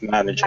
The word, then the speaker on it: manager: I just wanted to say the pronunciation is manager. The emphasis is on the first syllable, okay? Okay, manager.